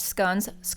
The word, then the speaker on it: scones: Earl Grey tea and fresh scones for those listening. That's the proper way to say it.